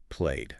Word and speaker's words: played: The source says it rhymes with made played.